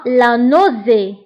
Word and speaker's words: la nausée: الغثيان هو la nausée. la nausée. la nausée. فبالنسبة لا nausée تكتب ب A وتقرأ O. la nausée.